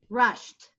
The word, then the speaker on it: rushed: its own own sound then the e d makes a t sound so let's listen to it rushed you hear the T sound rushed now it's not a t that it's spelled e d but it's spell but it's but it sounds like a t how about this word